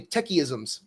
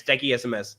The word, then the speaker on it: Techiesms: And I was calling you techisms when I think when I first mostly like many people like misspell it techism techms or or techism there are a lot of pronunciation but yeah it's techie SMS that's much better.